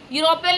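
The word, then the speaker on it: European: और जब हम इसे हिंदी में लिख के देखते हैं तो इसका पहला वर्ड जो है वो साउंड देता है यू की।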